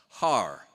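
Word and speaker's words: Haarer: on my birth certificate is spelled h a a r e r har nice to meet you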